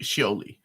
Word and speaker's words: Scioli: Oh, how do you pronounce his name? Scioli.